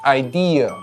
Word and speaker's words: idea: Idea. Not "idear" with an "r" sound. There's no "er" sound at the end. Neither British nor American English adds that sound.